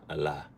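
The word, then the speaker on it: Ela: And in Aramaic, the word is Allah, Allah. E-L-A. It's E-L-A. When you go to Syria, how is that? How do you pronounce that? It sounds like Allah.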